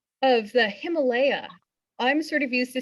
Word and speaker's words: Himalaya: Himalaya is how you would pronounce it if you were following the Sanskrit. But I, as someone who grew up in Fort Worth, Texas, said Himalaya for a long time. And I think that's probably what you'll hear most of the time, but Himalaya is the way to pronounce it if you're really interested in getting it just right.